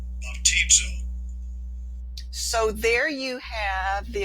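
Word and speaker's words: βαπτίζω: Baptizo. Baptizo. So there you have the ability to listen to how they pronounce that particular word.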